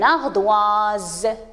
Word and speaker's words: ardoise: entre eux deux voyelles vous avez s entre le i et e alors il va être prononcée z on dit une ardoise d'accord très bien et